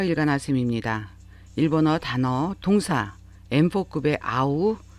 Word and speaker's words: 合う: 일본어 단어 동사 N4급의 아우, 아와세루 그리고 N1급의 아와스에 대한 설명을 하겠습니다. 한자 하파랍자라고 알고 있는 이 단어를 이용해서 일본인들이 동사를 아우, 아와세루, 아와스라고 발음을 하는데 각각의 동사에 대한 자세한 설명을 해드리겠습니다.